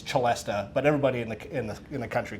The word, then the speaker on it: celesta: it's actually called a celesta, which is Italian. The English, who do their own thing, call it a celeste.